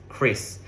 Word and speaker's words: QRIS: famous one in Indonesia called as Chris, spelled Qris. So, we spell it as Chris.